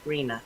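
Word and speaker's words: RHNA: regional housing needs allocation and we pronounce it rena and this is the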